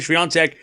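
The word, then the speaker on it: Świątek: I have been authenticated by the Polish community. They've said you are saying it correctly. They have guaranteed that I am saying the pronunciation. And I went on live TV and I said Swiatek, and people were saying that I said it right on TV too.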